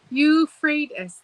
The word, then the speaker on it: Euphrates: Euphrates.